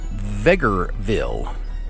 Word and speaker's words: Vegreville: And interestingly, they said Vegreville, like Beggarville, only with a V.